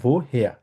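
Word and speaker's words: woher: আরেকটা হচ্ছে ভো হেয়া, আরটা উজ্জ্ব থাকবে এখানে, আমরা বলবো হচ্ছে ভো হেয়া বলবো। ভো হেয়া, ভো হেয়া মানে হচ্ছে কোথাও থেকে, একটা জায়গায় আছে, একটা জায়গা থেকে আসা।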